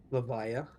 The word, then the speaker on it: Leyva: to absentos and uh you could at least pronounce it right I'm sorry how do you pronounce it levia levia thank you I'm I